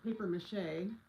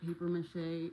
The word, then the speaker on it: papier-mâché: I said it wrong. I don't I don't know how to use it. I don't know how I don't know how you say it. You say it the correct way. I just say papier-mâché.